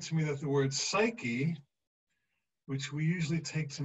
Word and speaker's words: psyche: She said, no, the original Greek for the word psyche, I mean, psyche, that's how you say it in Greek, psyche, means soul.